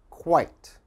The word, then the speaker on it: quite: And the last one, ite, like sight. Quite.